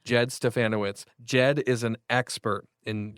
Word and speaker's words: Stefanowicz: He said we got to say it like Bananowitz, okay? So that's how we remember it. Jed Stefanowicz.